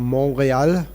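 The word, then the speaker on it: Montréal: uh this is in Montreal Canada or monreal as the francophone Canadians pronounce it har Krishna more loud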